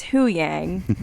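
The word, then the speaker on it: Huyang: quickly maybe yeah yeah but it is who Yang that's how you say it yeah yes and we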